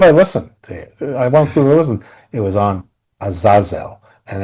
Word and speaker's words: Azazel: It was on Azazel, and it's pronounced Azazel, not Azazel. Azazel. But as opposed to the horrible Denzel movie, which pronounced it as Azazel, and that has always gotten under my skin.